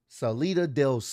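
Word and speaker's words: Salida del Sol: that solo Del I think it's called pronounced solo Del Soul let me Google this bro I got to make sure this is right I don't want to botch this up so his finisher is pronounced Salita Delo okay I just wanted to make sure because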